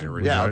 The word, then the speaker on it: Regina: Regina. Yeah, okay. Right, which they said was the town that rhymes with fun.